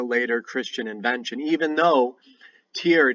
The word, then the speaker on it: Tyr: Christian invention even though tear day which is spelled Tyr but that Y is pronounced like au and an Old English